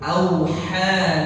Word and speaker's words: أوحى: Jadi auha tipis dulu, auha laha, auha laha. Beda enggak? Beda. Ya, jadi jangan sampai nanti kita samakan ya, hurufnya jadi sama. Jadi kita baca dua-duanya, kita baca tebal, auha laha atau auha laha. Beda. Ya, salah itu. Yang pertama tipis auha, yang kedua laha.